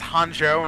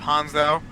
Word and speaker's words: Hanzo: He would go in and say his name was Hanjo instead of Hanzo.